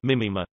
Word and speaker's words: μίμημα: The word meme is a shortening modeled on gene of mimeme from ancient Greek mimema, pronounced m-i-acute-m-ma, mimema, imitated thing, from mimeistai mimeistai, to imitate, from